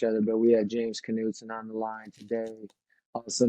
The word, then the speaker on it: Knutson: that how you say your last name uh Knutson Knutson yeah is that uh okay yeah I mispronounced um Riker's last name you know I